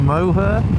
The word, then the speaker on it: Moher: I'm going to be taking a look at the cliffs of Moher. That's how you pronounce it.